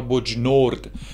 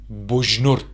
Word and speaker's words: بجنورد: نورد به دنیا اومدم البته تو اخبار میگن بجنورد یا بجنورد اما بومی اصلاً ج رو تلفظ نمیکنن اینطوری میگن بجنورد من توی یه خانواده